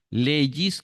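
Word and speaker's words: λέγεις: Lego es yo digo leis Recuerde la la diferencia en la el sonido que sigue verdad Lego como G de gato leis como ye de yate tú dices leyi él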